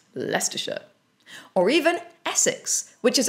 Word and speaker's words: Leicestershire: For example, take Leicestershire, which is actually pronounced Leicestershire.